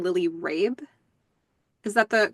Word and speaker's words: Lily Rabe: like leading into that is the actress's name Lily Rabe is that the correct pronunciation yes yes that's right yeah yeah I've